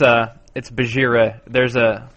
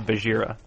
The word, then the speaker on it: Bajheera: It's Bajheera. It's like spelled like Shere Khan. Like Shere Khan is Shere Khan. This is BajheeraCon would be cool, but it's actually Bajheera.